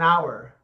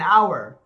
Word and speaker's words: hour: oh maybe um an hour oh an hour because the H is silent yeah yeah yeah so